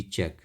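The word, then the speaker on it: chalk: लेकिन बोलते नहीं है चौक सी एच ए एल के चार्ल्क नहीं बोलते हैं चौक बोलेंगे तो ऐसे ही हम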